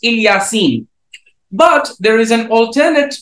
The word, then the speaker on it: Ilyasin: uh throughout the Muslim world nowadays it is pronounced ilyasin but there is an alternate reading which reads